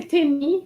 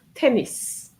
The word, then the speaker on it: tennis: So tennis. So we're going to keep tennis. Most of the students said tennis last year. Okay? Tennis. So you need to pronounce the S.